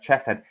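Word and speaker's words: חֶסֶד: The the H with a dot is pronounced like a ch sound. So that would be like chesset.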